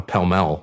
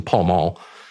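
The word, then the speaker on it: Pall Mall: but he would always have a a a pel he pronounced it pel for some reason pal mul in his hand with this watch and you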